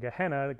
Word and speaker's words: Gehenna: And in Hebrew, in the Old Testament, instead of saying Gehenna is how you say it in Greek, you said Hinnom, verse 10.